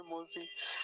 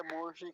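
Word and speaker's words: मोषी: इसमें, लेकिन फिर भी कई देवता ऐसे होते हैं जो बोल देते हैं मौसी, मौसी, वो सोचते हैं कि शायद ऋषि से गलत हो गया होगा, मौसी की जगह मोशी कर दिया ये।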